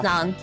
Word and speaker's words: Lang: Long. Long? Long. Long. Not like long, but long.